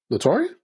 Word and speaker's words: Latoria: Rick said that's how you pronounce it, Latoria. But have you met her and talked to her in person? Who? Latoria?